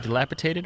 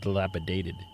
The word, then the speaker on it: dilapidated: Is it dilapitated or is it dilapidated?